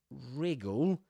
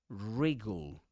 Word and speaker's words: wriggle: The W at the beginning, the W is not pronounced actually.